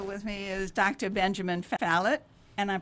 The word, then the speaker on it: Falit: Benjamin Falit, and I'm pronouncing that properly.